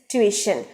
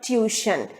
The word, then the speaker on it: tuition: ninth word it is tuition t u y t i o n is never tuition it is tuition and the stress is on the second syllable we and it is